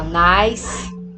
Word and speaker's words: nice: Só que nós não pronunciamos a vogal final, né? Então aqui é nice, safe, large. Então todas essas palavrinhas aqui, apesar de terem duas vogais, como a gente não pronuncia o E final, então elas são consideradas